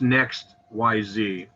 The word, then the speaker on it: NEXYZ: It's the Next, pronounced Next YZ. It's actually NEXYZ because it does the different directions in that with it.